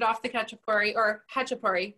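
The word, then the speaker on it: khachapuri: the ketchup query or hachipari it's a silent k yeah it's ha ha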